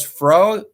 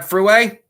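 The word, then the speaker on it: Frueh: And Fru. It's not Fruway.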